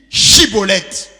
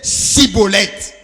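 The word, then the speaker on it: שיבולת: Il lui disait alors, eh bien, dis, Chibolette. Et il disait, Sibolette, car il ne pouvait pas bien prononcer.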